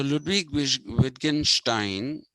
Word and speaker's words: Ludwig Wittgenstein: Ludwig, it's pronounced Ludwig Wittgenstein.